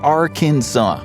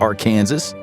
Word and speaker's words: Arkansas: It's pronounced Arkansas, not Arkansas.